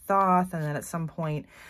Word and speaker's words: Thoth: point I start saying Thoth, and I'm not trying to be pretentious. It's just, I always used to pronounce it Thoth, but it's more common that I hear people pronounce it Thoth.